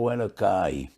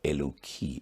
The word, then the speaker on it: Eloki: Many people sing B'schus Atana Hu Elokai. They don't mean bad, but that is Divrei Kfira. Chas v'sholem. There is no Tana Elokai. Atana Eloki is the right way to pronounce this phrase.